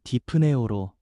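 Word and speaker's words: δειπνέω: 먹는다라는 헬라어 발음은 디프네오로 단순한 식사가 아니라 가장 친밀하고 깊은 교제와 화평을 상징합니다.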